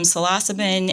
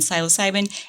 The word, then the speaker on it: psilocybin: Here's the deal with pronunciation is that when you are a reader, which you and I are both readers, you might not be the best pronunciator of things. The sayer of things? Yes. And I think that both psilocybin and psilocybin are acceptable.